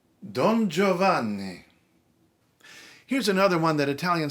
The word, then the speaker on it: Giovanni: Okay, it's not Annie, it's Anni. And okay, fine, we're English speakers, we're not used to doing that. But in Italian, it actually makes a semantic difference. The other one is, it's not Gio, it's just Joe. So, Don Giovanni. Giovanni.